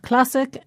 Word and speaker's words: classic: We pronounce historic and historical with the stress on the same syllable in both words, the to. And it's the same with classic and classical. In both words, the stress is on the same syllable, this time cla.